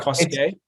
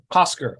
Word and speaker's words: Cosquer: Is it, is it Cosquet? It's after the cave in France. So it's Cosquer. Cosquer.